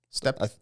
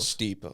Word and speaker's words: steppe: And then the Steppe. I think it's pronounced steppe. Steppe. That's the I was Mongols. saying steep a bunch, and then I looked at it, and I think it's saying steppe.